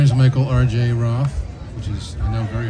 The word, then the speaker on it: Roth: be missing my name is Michael RJ rth which is I know very hard to spell but it's the way it's pronounced so uh I was living in New